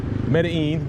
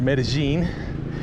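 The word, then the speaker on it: Medellín: now bogota bogota bogota medellin or medellin depending on how you want to pronounce it and then i think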